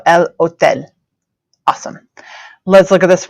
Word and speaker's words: hotel: it's not the hotel it's in Spanish now it's remember that o and the E and the sounds they make and then the silent h so El Hotel awesome let's look at